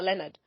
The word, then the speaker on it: Lenard: check it out so that you never forget Leonard's name once you hear the name coffee you'll also remember Leonard because you remember there a man and Care